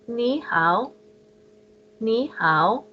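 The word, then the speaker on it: 你好: these so to say hello you would say ni how and then to say how are you you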